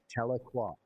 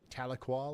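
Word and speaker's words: Tahlequah: Taloqua. Taloqua.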